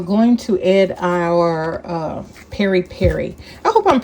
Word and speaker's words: peri peri: And we're going to add our uh Perry Perry. I hope I'm pronouncing it right. It's P E R I. P E R I. Two separate words. Like Maui Maui.